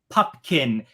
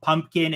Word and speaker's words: Pupkin: I love too so his name is rert pupkin everyone in the entire movie pronounces it wrong the whole time and it he's multiple times called pumpkin it was making me